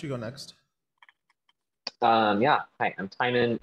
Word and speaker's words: Timon: Hi, I'm Timon. It rhymes with Simon. It's not Timon.